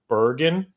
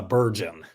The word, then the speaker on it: Burgeon: In your bio, you talked about, and please, if I mispronounce the name, Bergen. Close. It's Burgeon.